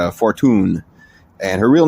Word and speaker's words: Fortune: Her last name, it looks like it's spelled fortune, but it's Fortune.